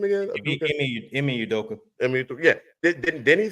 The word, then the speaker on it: Ime Udoka: Now, Udoka, how you pronounce his name again? Ime Udoka.